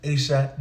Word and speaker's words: Aisha: It's Aisha like rosacea, in case anyone's wondering about the pronunciation.